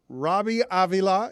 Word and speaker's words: Robbie Avila: because of this guy Robbie Avila is uh I pronounced that with a Latin flourish are you Hispanic do